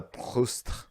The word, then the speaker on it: Proust: All right, there's no RE at the end of Proust, is there? So you don't have to do that. No, dude. Everybody who I listened to a bunch of French speakers say his name, and it was very pronounced.